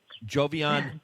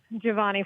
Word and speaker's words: Giovanni: Jovian Flores, am I right? Giovanni Flores. Giovanni. You got it. Okay, Yep, Giovanni well Flores.